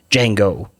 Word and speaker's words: Django: your name he's like django how do you spell it d-j-a-n-g-o he's like the d silent and the guy says yeah